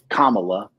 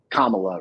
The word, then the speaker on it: Kamala: I actually didn't think, and Doc corrected me on the pronunciation. It's Kamala. Is Kamala, right? Because I kept calling her something else, mispronouncing the name.